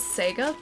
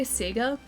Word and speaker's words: Sega: I say Sega. Yeah, I say Sega. I just always have.